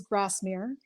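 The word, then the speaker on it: Grasmere: Well, you were right in the way you pronounced it. It is Grassmre.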